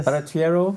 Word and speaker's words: Barattiero: sir often talk with Verity arrow didn't spell it right yeah Verity arrow yes perfect okay well nice to meet you